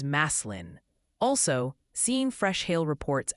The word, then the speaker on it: Massillon: And Massillon is Maslin.